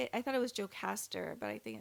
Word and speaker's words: Jocasta: I thought it was Jocasta, but I think it's Jocasta.